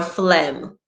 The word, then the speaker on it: phlegm: examples guys this says g has no business being in sign nor phlegm as far as the modern